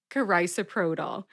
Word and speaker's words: carisoprodol: how do you say it again cars propanol carisoprodol and that was episode 198 the 13th in